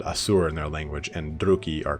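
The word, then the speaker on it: Druchii: Because from this point, depends on how you want to pronounce this, Druki or Druchi. I like Druchi, but I know it's Druki.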